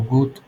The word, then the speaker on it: would: Me dicen algunos salón cómo se pronuncia aquí si es una G y digo good, good, es una U alargada. La L no tiene sonido.